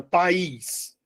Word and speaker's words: país: Olha quantas vezes eu abri minha boca para falar a palavra país. Eu abri minha boca só uma vez. É de sílabo, né? De sílabo. Se tem duas sílabas é de sílabo. Beleza. Eu não posso, não devo e não vou chamar de monossílabo.